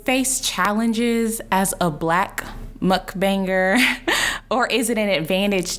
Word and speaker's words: Mukbang: is, do you face challenges as a Black mukbanger, or is it an advantage to you being a woman of color in this space?